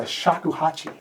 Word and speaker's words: Shakuhachi: Michael, you're a master of the Shakuhachi. Am I pronouncing that correctly? Pronouncing it perfect.